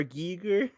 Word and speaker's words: Giger: for that film so the failure actually it's pronounced HR Giger you know fun enough I'm not critic bait